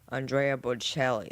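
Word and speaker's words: Andrea Bocelli: Here's a couple more videos for you to watch and I'll see you again in Andrea Belli.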